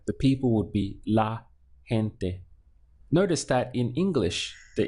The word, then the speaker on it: gente: easy word in Spanish it's gente gente this ge has like a haitch sound gente so hint there is people in Spanish and it's a feminine word so the people would be la gente notice that in English